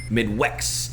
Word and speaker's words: MIDWXST: Midwest spelled with an X. So go check him out. Where's the X at? MIDWXST. Midwest. All right, bet.